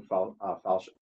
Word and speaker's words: falchion: She's also carrying a big, long falchion.